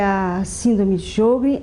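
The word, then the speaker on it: Sjögren: é uma doença que é a síndrome de jogl é uma doença muito prevalente como é que se escreve jogl se escreve s j o g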